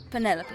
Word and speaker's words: Penelope: Officially, yes, but I never can be bothered with all four syllables of it. Penelopey sounds a little ostentatious coming out of the mouth, don't you think?